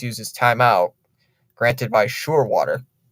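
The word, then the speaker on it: Scheurwater: He does use his timeout, granted by Surewater. Weirdest name I've ever heard, Surewater. It's spelled Scheur and then water.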